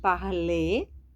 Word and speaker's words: parlez: Nous parlons, vous parlez. Também não pronunciamos o Z, não precisamos consoantes finais, né?